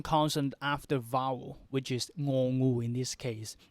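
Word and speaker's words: ง: We have one more one more consonant, which is the ending consonant after vowel, which is ngongu in this case. And the ngongu, usually we pronounce ng sound.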